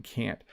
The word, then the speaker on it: can't: no, that I'm using can't. So again, I know other English teachers on YouTube have explained this, that we don't really pronounce the T. We do say it a little bit though.